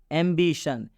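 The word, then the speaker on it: ambition: मतलब होता है लालसा एंबिशन में भी ओ के बाद से एन आया है और जब भी ओ के बाद से एन आता है तो इस ओ का उच्चारण अ से किया जाता है यहां पर अंत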